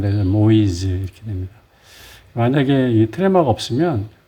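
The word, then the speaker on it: Moïse: 이제 부러웠으면 이제 모이즈 이렇게 했는데이가 트레마가 붙어서 발음을 모이지 이렇게 됩니다 만약에이 트레마가 없으면 모아야지 이렇게 되는데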